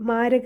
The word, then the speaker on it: Marie: പേര് മദാം മാരി ക്യൂറി മാരിയുടെ ഉച്ചാരണം ഫ്രഞ്ച് ഭാഷയിൽ മാരി എന്നുതന്നെയാണ് പലർക്കും പരിചിതമായ മേരി എന്നത് ആംഗലീകരിക്കപ്പെട്ട ഉച്ചാരണമാണ് ഇന്ത്യയിൽ ഈ ഉച്ചാരണമാണ് പ്രചാരത്തിൽ ഉള്ളത് എന്നാൽ പാശ്ചാത്യ നാടുകളിൽ പ്രത്യേകിച്ചും ശാസ്ത്ര സമ്മേളനങ്ങളിലും മറ്റും അവർ മാരി എന്നെഴുതി മാരി എന്ന് ശരിയായി ഉച്ചരിക്കുന്നു അതുപോലെ മദം എന്ന ഫ്രഞ്ച്